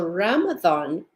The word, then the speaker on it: Ramadan: many many cultures so Ramadan and if you'll hear how I'm saying it it sounds like it has a th in it remember it's Arabic it is spelled many